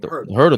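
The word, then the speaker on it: Huerter: Herder the one who just killed us tonight, right?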